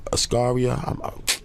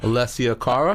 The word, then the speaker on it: Alessia Cara: She got the record, Ascaria. I'm mispronouncing her name, man, but Alessia Cara.